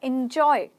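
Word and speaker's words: enjoy: शब्द इसमें आता है एंजॉय य य क्या एंजॉय एंजॉय एंजॉय इन नहीं बोलना है इन तो आई एन होता है ना एन ई क्या आ रहा है एन एंजॉय एंजॉय मतलब मजे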